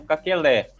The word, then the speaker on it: Kakele: Porque, por exemplo, os devs chamam Kakelé. A maioria dos jogadores chamam de Kakele.